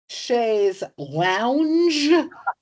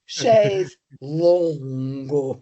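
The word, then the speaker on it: chaise longue: Sha's lounge versus Sha's long. Right. I can't pronounce the second.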